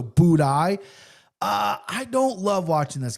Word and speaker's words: Buday: Martin Buday, I used to call him Booty on my show because I didn't know how to pronounce his name, so Buday.